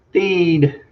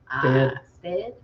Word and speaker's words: Stead: The Steed. Is it Steed or Stead? Am I pronouncing it right? Is it Steed? Stead. Stead. Stead. Stead. Stead.